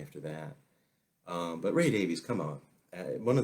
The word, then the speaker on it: Davies: we would call him Ray Davies III understand I think that in the UK and Diane Ward is on the line I think can correct me I think it's pronounced Davis in the UK but here in the